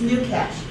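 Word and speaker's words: GnuCash: last but not least do you say the new or new it's new cash new cash okay because I've never been clear whether the g is silent or not and it's free so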